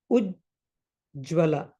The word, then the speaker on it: Ujjwala: So for now, if you have the word Ujjwala, that has three syllables.